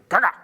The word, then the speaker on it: Kaga: Within minutes, Soryu, Kaga, and Akagi, or I should say it like Japanese, Soryu, Kaga, Akagi.